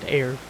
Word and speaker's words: Eir: Okay, so now we know her name is pronounced Eir.